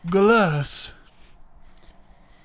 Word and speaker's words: Golos: No, it's Golos.